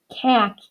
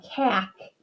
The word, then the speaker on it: cake: the e but our a is long okay it's not cac either and i'll ask for a piece of cake okay that's what that word would be like if my a was short that silent e is turning this a too long to make the word cake cake i can do fake